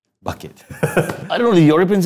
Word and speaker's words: Bucket: is bucket right yeah is it pronounced bucket or bouquet bucket I don't know the